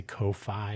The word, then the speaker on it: Ko-fi: I always say Ko-Fi or Kofi to emphasize that it's not spelled like coffee, but Kofi.